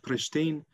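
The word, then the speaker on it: Prishtinë: in the if we if we take the capital of kosovo which is pristine it is not pronounced at the end so it is dropped also in other words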